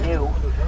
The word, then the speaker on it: gnu: The wildebeest does also go by an alternate name that we call them sometimes, and that is the gnu, spelled G-N-U, with a silent G.